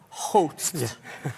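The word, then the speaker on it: Howth: Hout? Hout. Yeah, I've been calling people in America going, I'm in my house in house. But that's not how you say it.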